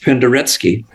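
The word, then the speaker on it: Penderecki: that okay Polish composer uh Christoph pandaretsky p-e-n -t-e-r-e-c-k-i pronounced pandaretsky brilliant brilliant man and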